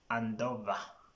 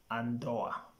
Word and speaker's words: Andoa: Two, Andoa. You find some people saying Andova. It could be the influence of German or other languages, but the correct pronunciation is Andoa.